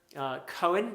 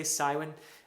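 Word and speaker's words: Cywen: ruin as well but you also have his sister cohen i'm going to say some people might say siwen which is perfectly fine i'm giving it the welsh pronunciation she is a character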